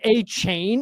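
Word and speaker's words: Achane: You need to be like, hey, by the way, guys, it's actually Achan. Like, and A-Chain is what Devon is trying to be called.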